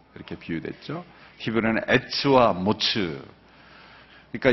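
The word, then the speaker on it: מץ: 히브리어는 에츠와 모츠.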